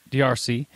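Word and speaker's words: D'Arce: Well, okay, your name, Joe, is pronounced Darce.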